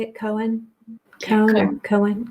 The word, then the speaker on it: Cohen: Cone or Cohen? Cohen.